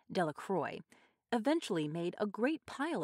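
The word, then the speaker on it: Delacroix: and harry jones and dickie delaqua the villagers pronounced this name de la croix eventually made a great pile of stones in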